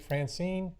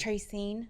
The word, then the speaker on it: Tracine: person that filled out a card is it Francine or sorry I apologize and well when you